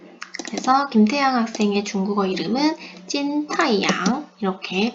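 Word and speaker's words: 金太阳: 그래서 김태양 학생의 중국어 이름은 찐타이양 이렇게 발음을 하면 됩니다.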